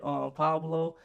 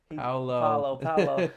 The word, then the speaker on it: Paolo: Am I pronouncing his name right? Paolo. Paolo.